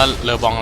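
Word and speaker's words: LeBlanc: บาง ที ก็ อ่าน เล บอง บาง ที ก็ อ่าน รีบน งง กับ ชีวิต นะ ว่า ่าน อะไร กัน แน่ แต่ จริง มัน อ่าน ว่า เลอบอง แหละ อ้าว ยัง ไง เอ้ เก็บ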